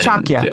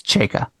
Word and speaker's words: Chayka: Yeah, Not Chakya. I didn't feel bad about people. You misled me on the pronunciation.